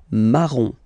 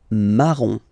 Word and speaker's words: marron: rose, rose, okay, then O-N, here goes like on, remember, in your nose, on, on, okay? So the full thing goes like marron, marron, marron, okay?